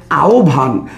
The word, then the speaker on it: আহ্বান: কি হবে তাহলে আহ্বানের সঠিক উচ্চারণ কোনটি সঠিক উচ্চারণ হচ্ছে আহ্বান আহ্বানের সঠিক উচ্চারণ কোনটি সঠিক উচ্চারণ হইতেছে আহ্বান